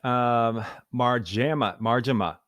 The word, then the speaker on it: Marjama: Marjama.